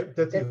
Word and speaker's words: Detty: Now, why was, and I hope that I'm saying this correctly, why was Detty Home Services created? Did I say it right? Yeah, Detty Home Care Services.